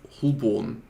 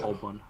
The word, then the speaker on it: Holborn: I would have pronounced it Southwark as well. Yeah. Also, what's it? Holborn is not Holborn. It's what is it? Holborn Or something.